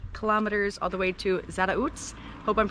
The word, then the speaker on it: Zarautz: we're walking 21 kilometers all the way to Zara UTS hope I'm pronouncing that right z-a-r-a-u-t-z and it's a two